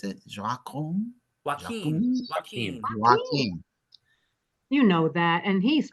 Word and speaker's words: Joaquin: And they typecast him because he is perfectly, how does he pronounce it? Joaquin? Joaquin.